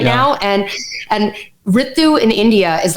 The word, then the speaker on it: Ritu: I pronounce it as Ritu.